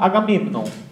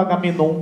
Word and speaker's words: Agamemnon: Ele, conhecedor do grego, pronunciava Agamemnon. Então, eu peguei o costume de pronunciar Agamemnon, mas você pode falar Agamenon que não tem problema nenhum. Certo?